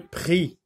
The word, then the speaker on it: prix: Ici, le prix. Ici, la lettre X n'est pas prononcée, donc X muet.